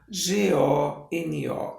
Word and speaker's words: hectágono: Aqui é Hectagono. Esse C é mudo.